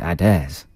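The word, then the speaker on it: Adez: d e z as probably pronounced adairs but it reads a d e z aids yeah that's not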